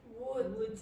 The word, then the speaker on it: would: Now, how do you pronounce wood? Wood. What do you have to do? Kiss someone. You don't kiss someone. You just put your lips in the kiss position.